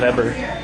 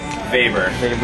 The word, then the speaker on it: Weber: Looks like it should be pronounced one way, but it's really Weber. Weber. Yep. Kind of like Vader, but so Max Weber, and he came up with what?